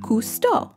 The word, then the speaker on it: Cousteau: a jock villager and i pronounce it cousteau so he's named after a famous french oceanographer and filmmaker jacques cousteau and